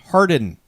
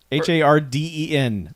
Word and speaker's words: Harden: guy trying to write music yeah mr bert hardin h-a-r-d-e-n bert hardin oh is that how it's spelled yes harden he's played by carmen santamaria